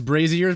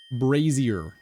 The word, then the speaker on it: brazier: Is Brazier pronounced like bra or brace? It's brazier. Brazier.